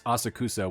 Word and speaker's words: Asakusa: I believe it's Asakusa when you're on the train. That's the English pronunciation they're using.